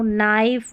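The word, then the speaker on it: knife: अब ये भी है कि के एन में के एन जो है ना, इसमें के साइलेंट है, ठीक है। नो, नाइफ, नी, नॉक, निट, तो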